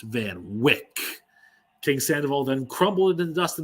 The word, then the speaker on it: Van Wyck: "Cast him aside onto the Van Wyck." But I was quick to say, "It's pronounced Van Wick."